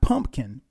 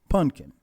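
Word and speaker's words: Punkin: peaches or pumpkin and and not pumpkin it's p u n k i n pumpkin um Candy Cherry cookie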